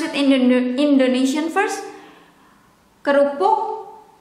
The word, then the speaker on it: kerupuk: Kerupuk, kerupuk, ke, whether with E here, in English is E, but in Indonesian is E. Kerupuk, kerupuk, or without the E, we pronounce it, but the formal way to write it is with this E, or in English E. Kerupuk or kerupuk.